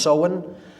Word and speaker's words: Samhain: Pronounced Samhain. It looks like Samhain in English, but it's pronounced Samhain in Gaelic, and that is Halloween, or Hallowmas, October 31st.